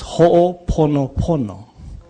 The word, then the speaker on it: Ho'oponopono: And it's Ho'oponopono. It is not Ho'oponopono. It's Pono. Yeah? It's Ho'oponopono, not Pono. Yeah?